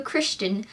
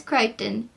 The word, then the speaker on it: Crichton: by michael crichton and i said in the previous video christian but then I've been watching other stuff mention asst and everybody says Crichton have I been saying it wrong I will be honest